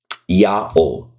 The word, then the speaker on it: Yahweh: Dead Sea Scrolls, 4Q Leviticus B, uses a pronounceable form of the divine name in the Old Testament text. Yahweh is how it's represented.